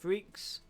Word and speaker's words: Friex: I believe he said it is pronounced Friex.